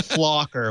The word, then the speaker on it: Little Flocker: I did it thing little flocker with an L flocker so I I I